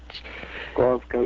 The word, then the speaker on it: Glasgow: But, yeah, the correct pronunciation for Scotland's Glasgow is Glasgow, G-O-W.